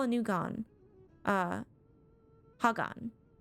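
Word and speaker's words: Khagan: a new gone uh Hagan I keep forgetting that the K is silent reminder all will converge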